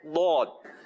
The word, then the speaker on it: ضاد: تو اب اصل تلفظ جو ہے اس کا وہ ہے ضاد. تو اسی انداز سے پڑھنا ہے.